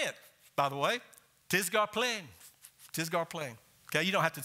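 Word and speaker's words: τίς γὰρ πλὴν: In the Greek, that phrase is tisgarplein. Tisgarplein. You pronounce that P-L-E-N, plein, kind of like tattoo.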